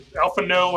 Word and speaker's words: Alphanaud: Who's Alphanaud is Alphano, however you pronounce his name, is after that. It's Alphano. Alphano.